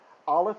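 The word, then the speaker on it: אָלֶף: Aleph is not a vowel sound. It is unfortunate that we pronounce it today in a way that treats it as if it's not a consonant. But in ancient times, it had a sound. It was like a glottal stop, but we don't do that anymore.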